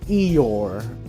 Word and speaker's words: Eeyore: Number 97, Eeyore, is how you say it.